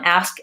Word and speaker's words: ask: make sure that you're paying attention to the SK and the st that neither of those sounds drop off and we do say the K and T in that case we say ask and past jobs is vowel ah